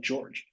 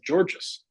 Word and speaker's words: Georges: George niang is silent and is just pronounced like George uh interesting I did not know that because I've heard them talk about him on the broadcast and I thought they said Georges uh okay George nieh